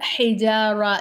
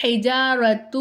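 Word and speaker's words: الحجارة: எழுத்து நமக்கு உச்சரிப்புல வராது இங்க ஏன் நீங்க வந்து ஹிஜாரத்து அப்படின்னு சொல்லாம இல்ல ஹிஜாரத் அப்படின்னு சொல்லாம ஹிஜார அப்படின்னு சொல்றீங்க அப்படின்னு கேக்குறீங்க இல்லையா கேட்பீங்களா கண்டிப்பா அதுக்கான விளக்கம்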